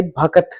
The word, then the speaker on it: भक्त: सबसे पहली बात तो भक्त जो वर्ड है वही रियल वर्ड है जिसकी प्रोनाउंसिएशन भय, कै और तय, भक्त होता है। क्या भक्त होता है प्रोनाउंसिएशन, रियल प्रोनाउंसिएशन भक्त ही है, जो कि हमारी हिंदी